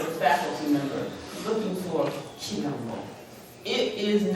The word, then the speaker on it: quilombo: Quilombo, with a Q, quilombo.